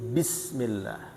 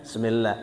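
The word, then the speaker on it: بسم الله: Ba itu di syafatain, di bibir. Ba. Bismillahirrahmanirrahim. Bismillah. Bukan semillah, semelah. Bukan dari terbuka, tapi dari tertutup. Bismillahirrahmanirrahim.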